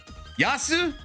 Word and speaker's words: Yasu: Also, you don't need to call me Yasu, just Yas is fine. Literally pronounced effectively the same in Japanese. Yasu, Yas. It's like saying desu versus des.